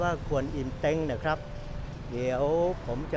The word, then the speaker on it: กวนอิม: นะ ครับ องค์ กวนอิม อัน นี้ อ่าน ว่า ควร อิ่ม นะ ครับ เดี๋ยว ผม